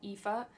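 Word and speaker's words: Aoife: and I call her AI I know that's not how you pronounce it I know you pronounce it epha but I didn't know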